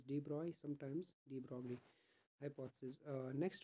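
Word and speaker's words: de Broglie: or you can say d brogly right so this is the name no need to worry about the pronunciation it is D Bry sometimes de hypothesis uh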